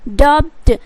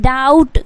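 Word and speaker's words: doubt: है इस दुनिया में जो इसे क्या बोलते हैं डी यू बी टी डबड क्या बोलते हैं डॉप्ट बट यहां पे इसका उच्चारण आपको क्या करना है डाउट मतलब बी जो है वो साइलेंट करना है ओके तो क्या हो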